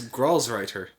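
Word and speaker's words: Gralsritter: Grows Ritter, I guess. Oh, it is grows writer. Grows writer. Okay. That Yeah, because it's written in German.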